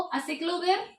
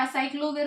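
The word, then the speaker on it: aciclovir: कौन सी है वो देखो, असिक्लोविर या असाइक्लोविर, बोलो कैसे भी प्रोनाउंस करना है, गैंसिक्लोविर, गैंसिक्लोविर, ठीक है, और इसके अलावा फैंसीक्लोविर, एक मिनट, हाँ फैंसीक्लोविर होता है, हाँ फैंसीक्लोविर।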